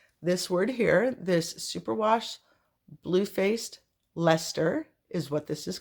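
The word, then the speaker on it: Bluefaced Leicester: all the people who corrected me on the pronunciation of this word here this Superwash bluefaced Lester is what this is called and I chopped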